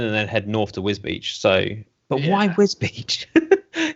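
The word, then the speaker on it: Wisbech: I want Yeah, to know why everyone calls it Wisbeach and not Wisbeck. Because it's just pronounced Wisbeach.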